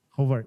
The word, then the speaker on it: Horvath: Hovart.